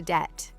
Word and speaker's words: debt: And the opposite situation, when you spend more money than you have, is called going into debt. Debt, D-E-B-T, the B is silent, by the way, is money that you owe to someone else.